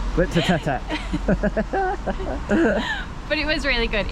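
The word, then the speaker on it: Glyptotek: Stop laughing at me, that was how it is pronounced. Glyptotech. Glyptotech.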